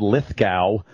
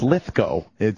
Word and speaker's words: Lithgow: Well, they've said Lithgow forever, and it's Lithgow. Well, I pronounce it Lithgow.